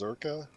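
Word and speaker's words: Czerka: I think it's pronounced Zerka, Zerka.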